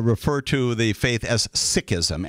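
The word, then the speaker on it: Sikhism: important thing there are folks out there who pronounce it uh seism and seeks um my colleagues and friends and Close Associates uh refer to the faith as sism s i k h i ASM and when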